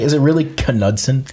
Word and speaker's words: Knudsen: Is it really Knudsen? Knudsen. Yeah, but so it's not like the K and knee. Yep. No, everybody... In all the interviews, everybody pronounced the K.